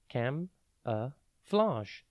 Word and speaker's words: camouflage: It is pronounced cam-a-flage and spelt C-A-M-O-U-F-L-A-G-E. Think cam, then O-U, and then flage, flag, with an E on the end.